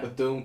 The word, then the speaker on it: Bethune: Like, So Betsy DeVos, she did the commencement speech at Bethune. Did I say it correctly? Yeah. Bethune College.